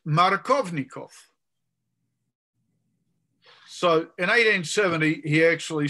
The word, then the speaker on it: Markovnikov: Now, the emphasis in that name is on the Kov, right?